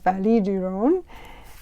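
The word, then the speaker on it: vallée du Rhône: pretty famous in history in French though you would say it as vallée du Rhone and that's where the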